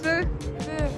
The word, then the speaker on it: feu: Feu. Feu is like cheveux.